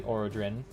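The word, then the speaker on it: Arothron: I'm not the one that's that's how it's pronounced, apparently. Aerodrin, even though it's like Aerothorn or something like that, but Aerodrin apparently.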